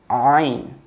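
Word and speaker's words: عين: And Ain. This will be from the middle part of the throat, a sharper sound.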